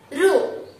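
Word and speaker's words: ऋ: देखो बच्चों, इसे को इस अक्षर को हम रु करके उच्चारण करते हैं, लेकिन इसी को हम रु नहीं कहना, वो तो गलत उच्चारण है। हम तो इस अक्षर को री कहना है।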